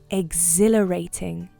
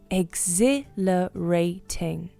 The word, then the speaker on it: exhilarating: Exhilarating. The pronunciation is exhilarating. Seems like a long word. It is a 5-syllable word, and you have to lay stress on exhilarating.